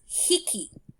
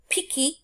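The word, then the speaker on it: 匹: number goes before it, this counter is pronounced hiki for most of the numbers, or piki and biki. So the times it is pronounced piki or biki is when it's number 1, 3, 6, 8, 10.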